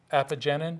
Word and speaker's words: apigenin: But one of the amazing therapeutic applications for celery is this substance called, apigenin? Apigenin. I have my hospital person, professional, to help me pronounce names.